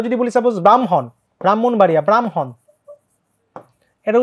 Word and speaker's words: ব্রাহ্মণ: বলি সাপোজ ব্রাহ্মণ ব্রাহ্মণবাড়িয়া ব্রাহ্মণ এটার উচ্চারণ কি হবে খুবই সহজ আগে ম আগে ম পরে হ ব্রাহ্ম হন হ টা পরে চলে যাবে তাহলে এই বর্ণগুলো যদি